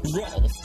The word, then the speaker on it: Rolf: Yeah, and this stupid looking guy here is Ralph the Wolf. The name is Rolf, Earl. Huh? Rolf. My name is pronounced Rolf the Wolf, not Ralph.